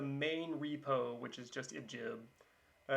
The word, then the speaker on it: ibgib: the repo right now the ibj repo or ip depending on how you want to pronounce it it's g like in garage um right now there's the main repo which is just ibjib uh it's kind of